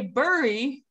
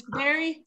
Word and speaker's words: berry: This looks like you would say bury, but no. English is weird and it's always trying to trick you. It's berry, berry. Okay?